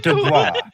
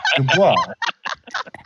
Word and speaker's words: Dubois: The boys. It's Dubois. You said it's pronounced yeah, boy. All right. Well, anyway, It is Dubois.